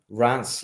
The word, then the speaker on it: Reims: Yeah, we've got a new Scottish commentator working for us, and we told him to pronounce it like Reims. No, like Rance, like a Scot would say dance, but like Rance.